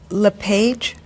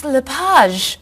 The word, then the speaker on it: LePage: just a few minutes is your last name pronounced LePage it's Lapage actually oh that's beautiful thank you now is it MS Lapage or mrs.